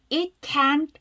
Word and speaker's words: can't: 반복합니다 자 마지막 부분 can't beong can't be 트는 아주 약하게 발음하죠음 단어 끝에 트나 뒤로 끝난다는 어떻게 발음한다 아주 약하게 발음한다 거의 안 들리지 It can't 하지 마시고요